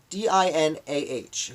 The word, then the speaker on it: Dinah: The next day, on Tuesday, I wrote about Dino Whipple, D-I-N-A-H, who I believe is pronounced Dinah.